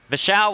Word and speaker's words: Vishal: want to say something vishal was here i know for sure he wants me to call him vashall because that's like his father's name or something in the